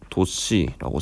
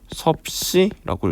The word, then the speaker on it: 섭씨: 온도의 단위로는 도씨라고 쓰고 섭씨라고 읽습니다.